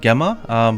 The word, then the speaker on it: Gemma: It's spelled Gemma, but in Japanese it's Gemma, so I'm going to assume that that's going to be the pronunciation in English as well.